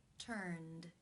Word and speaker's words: turned: The final sound in the infinitive is the N consonant sound, n, which is voiced. Therefore, it is case 2, where the ed is pronounced as the D sound. Turned.